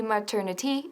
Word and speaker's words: maternity: También la pronunciación de maternity. Maternity. No maternity ni maternity, sino maternity.